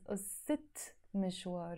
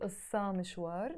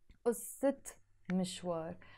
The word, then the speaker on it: قصة مشوار: So I can't say ussa mishwar, no, never. I have to say ussit mishwar, the story of a journey.